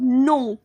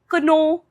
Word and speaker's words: know: देखो word है KNOW, no, इसमें जो K है ना उसकी आवाज हम निकालते नहीं है, हम इसको बोलेंगे no, KNOW, no, कनो, कनाऊ, ऐसा कुछ नहीं बोलना, इसकी करेक्ट प्रोनाउंसिएशन है नो, नो का मतलब होता